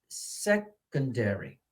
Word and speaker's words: secondary: I hear that the stress is on the first one, so the secondary, secondary, secondary.